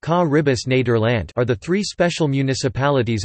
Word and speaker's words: Caribisch Nederland: The Caribbean Netherlands Dutch, Caribisch Nederland, pronounced Caribbis Nederland are the three special municipalities of the Netherlands that are located in the Caribbean Sea.